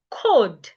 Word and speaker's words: could: Could the L is silent.